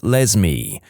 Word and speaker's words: Lesme: My mom is a public school librarian and the cringiest name she's encountered so far is a girl named Lesme, pronounced like Leslie but with an M.